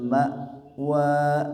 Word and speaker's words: ma'wa: Hiyal ma'wa, nah di sini ada ma'wa, hamzah sukun. Ketika dibaca suara dan nafasnya karena tertahan ma' wa, hindari jadi huruf ain ma'wa atau mantul ma'wa hindari ya.